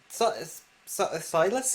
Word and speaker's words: Silas: Silas, is that? Yeah, that's how you pronounce it.